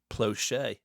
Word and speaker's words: Plauché: Plch.